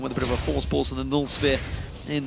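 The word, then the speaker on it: Voorspoels: So here's the trick. For anyone that wants to know how to pronounce this name, just say Force Pulse. Say it like you would say Kassadin with a bit of a lisp, with his E. So it's Mitch, Crepo, Force Pulse. Force Pulse.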